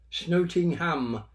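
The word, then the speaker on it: Snotingham: and then gross exit but the Normans couldn't pronounce the S so they dropped it and it became from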